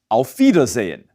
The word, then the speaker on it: auf Wiedersehen: might have heard before auf wiedersehen note that veda zane is spelled with a w but like all german words spelled with a w it's pronounced as a vida holden's bitter so